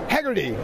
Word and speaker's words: Heagerty: We're with Ned Heagerty, right?